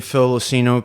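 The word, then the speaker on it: Phil LoCigno: type in my name Phil losino p h i l l o c i g n o the g is silent and then all my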